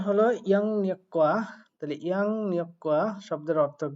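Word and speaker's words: 양력: তো এটার উচ্চারণ হলো ইয়াং নিয়ক্কা।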